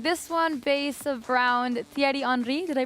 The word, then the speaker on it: Thierry Henry: This one based around Thierry Henry. Did I pronounce that correctly?